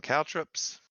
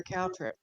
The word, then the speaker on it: Caltrops: CALTROPS. CALTROPS. Caltrops. It sounds like you're saying cow, C-O-W trip. Oh, caltrops. COW props. It sounds like you said cow trip, and I'm like, okay, why?